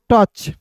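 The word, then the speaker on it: touch: एच को तो देखिए टी ओ यू सी एच को पढ़ते हैं दोस्तों टच ठीक है यहां पे देखिए टी का ट और सी एच का च ओ यू यहां पे साइलेंट रहेगा आई एन जी है दोस्तों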